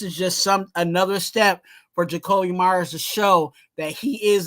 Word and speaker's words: Jakobi Meyers: But this next guy is our number one wide receiver, Jakobi Meyers.